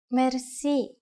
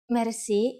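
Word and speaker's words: мерси: which word that is mer mer Mery is a long word from French but it is pronounced with a typical Bulgarian hard R it is used mainly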